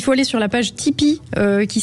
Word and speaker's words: Tipeee: Il faut aller sur la page Tipeee, qui s'écrit TIP3E.